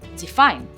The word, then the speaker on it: define: Like for example define define. As you can see the f is a little bit more clear than the rest of the word because it's a verb.